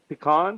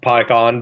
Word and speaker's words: Pycon: Is it Pecan? Pecan? I'm screwing it up, and I feel like I'm. It's pronounced Pycon, but Okay, I feel it